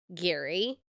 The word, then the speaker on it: Gerry: Okay, so his name is spelled Gerry, but it's pronounced Gary, which is really annoying.